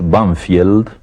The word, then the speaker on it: Banfield: suburbios de Buenos Aires que nosotros pronunciamos banfield pero que tiene un nombre inglés banfield y ese nombre inglés